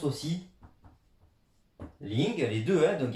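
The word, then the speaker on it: 零: Il se prononce aussi Ling, les deux, donc il y a deux écritures.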